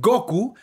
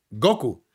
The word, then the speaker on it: Goku: Sayayín Ellos dicen Goku porque de acuerdo al español como se escribe y se acentúa la palabra llevaría el acento en la o Goku y ellos dicen Goku y nosotros decimos Goku porque así lo vimos en el japonés dicen Goku se llama Goku claro por